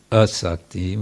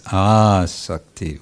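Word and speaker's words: āsakti: Make sure it's a long A if you're speaking about this. It's not asakti, which would mean not attachment. This is asakti, which means firm attachment.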